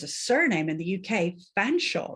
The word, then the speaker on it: Featherstonehaugh: There's a surname in the UK, Fanshawe, right? But it's spelt Featherstonehaugh, right?